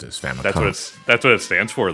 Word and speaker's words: Famicom: No, so you're not supposed to pronounce it though as Family Computer. You're supposed to pronounce it as Famicom.